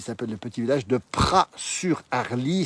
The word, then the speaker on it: Praz-sur-Arly: le petit village de Pras sur harly ça c'est écrit avec un Z mais on prononce pas le Z ici on est en